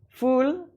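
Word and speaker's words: ful: Spoken about it before the falafil foul with hummus. I've been my pronunciation of this is all wrong. Fool with hummus.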